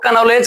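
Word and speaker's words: know: silent हो जाता है एक और स्पेलिंग सुना होगा आप लोग के एन ओ डब्ल्यू इसको पढ़ते हैं नो कौन जी पढ़ते हैं सर नो अब अगर इसी शब्दों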